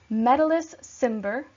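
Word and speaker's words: Metellus Cimber: with me Brutus above then we have Cinna medalists Cimber trebonius and KY ligarius and these are going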